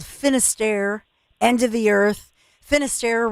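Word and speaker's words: Finisterre: Finister rhymes with Lair Bear and Lar Bear and I and so many of you have already signed up and I mean I'm so excited.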